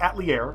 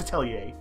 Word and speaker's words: Atelier: Anyway, Atelier Sophie, and yes, that's how you pronounce it, Atelier, it's not Atelier, I don't care that's how they pronounce it in the game, it's Atelier, can be split into two sections.